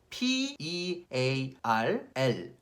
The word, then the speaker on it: pearl: P-E-A-R-L, pearl, pearl. 아, 이거 어떻게 설명해야 돼? 퍼에다가 퍼을, pearl, pearl.